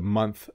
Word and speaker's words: month: now it is the month of December singular month month you could see my tongue comes out month like you see my tongue